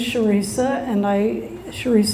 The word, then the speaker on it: Charissa: My name is Charissa, and I'm sorry that my parents either couldn't spell or couldn't pronounce, because it looks like Carissa and it rhymes with Teresa, so sorry.